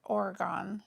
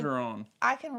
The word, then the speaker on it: Orgeron: Miss Lori said sorry for Tennessee loss, as well as Coach Oregon. Did I say that right? I feel like I just pronounced that wrong. Probably did. I probably did. Y'all, I can really Orgeron.